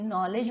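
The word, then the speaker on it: knowledge: इथे बघा, नॉलेज, यांनी सुरू झालं आपलं, नॉलेज, के लिहिलं होतं का, नॉलेज म्हणतो का आपण, नाही, नॉलेज म्हणतो, म्हणजे के हा सायलेंट झाला.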